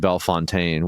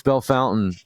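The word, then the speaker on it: Bellefontaine: crowd wanted to yell they said Bell Fontaine which is like really how it's spelled and what people think and I want to be like no it's Bell Fountain but that's how you can tell if someone's not from Ohio Robbie belf Fountain belf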